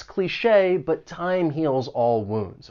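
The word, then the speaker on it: cliché: Cliche. It has two syllables. The stress is on that second syllable and the ch e with the accent mark sounds like shay.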